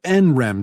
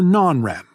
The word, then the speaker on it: NREM: between rem sleep and n-rem sleep which you can pronounce nrem or non-rem rem comes from the